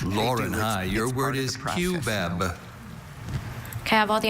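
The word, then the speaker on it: cubeb: Can I have can I have alternate pronunciation? There's only QBEB.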